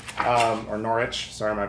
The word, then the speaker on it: Norwich: I was hanging out with him in Norwich, or Norwich, sorry, my pronunciation.